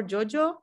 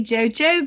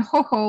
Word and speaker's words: Jojo: for jojo by the way do i pronounce your name correctly is it jojo or jojo it's usually jojo but obviously it's pretty often people pronounce differently